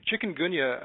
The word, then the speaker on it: Chikungunya: Chikungunya, and you're saying it correctly, is a virus transmitted by mosquitoes.